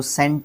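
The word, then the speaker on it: scent: इत्र जो होता है उसको स्केंट वैसे स्पेलिंग में लिखने में आता है, बट दोनों को सेंट बोलते हैं, ठीक है।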